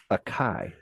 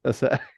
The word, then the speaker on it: acai: some of that, and I said acai. That is how you mispronounce acai, because the guy looked at me like he's like he kind of was like, oh, you mean acai?